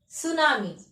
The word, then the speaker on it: tsunami: can you see it's t s u n a m i tsunami actually it will start with t but we pronounce it as tsunami okay and what is